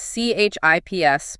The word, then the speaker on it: CHIPS: Just to be clear for everyone listening, that is CHIPS, but pronounced just like the snack, the CHIPS and Science Act.